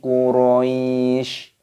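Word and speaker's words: قريش: Quraisy, nah, shinnya di sini dimatikan, ada tanda waqafnya, tanda berhenti, maka huruf sinnya dibaca sukun ataupun mati, dibaca Quraisy cara bacanya.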